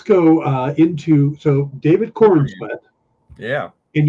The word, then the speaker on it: Corenswet: uh into so David Corn Smith yeah and you you kind of need to pronounce the e in corn sweat because if not is David Corn sweat and corn sweat sounds